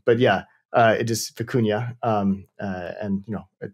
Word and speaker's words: Vicuña: even remember uh my students initially were saying fukuna when we were kind of building it uh so it was yeah vicunia is the correct correct uh pronunciations deploying machine